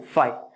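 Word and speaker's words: phi: Beta, gamma, theta, फाई के पी एच आई फाई, इसका pronunciation है फाई.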